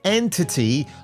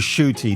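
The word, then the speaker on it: Ncuti: how to pronounce it we kept calling him enti gatwa I said to him I'm sorry shoy we called her enti gatwa and fact it was shoy nobody knew and uh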